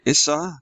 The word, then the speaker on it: Issa: This is by Issa. Am I pronouncing his name?